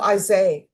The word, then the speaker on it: Isaiah: How do you pronounce your first name? Isaiah? Isaiah? The H is silent. Oh, Isaiah.